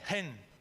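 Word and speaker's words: חן: En el hebreo se escribe H-E-N, gen.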